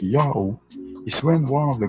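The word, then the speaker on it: Ιαω: was followed by Omega, it produces its own natural glottal stop between A sound and an O sound. So you don't need to write any divider to tell the reader it's pronounced like A, O.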